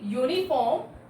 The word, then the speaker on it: uniform: Because when we say uniform, then pronunciation is coming what? Pronunciation is coming what? U, Y. So start with a Y consonant sound.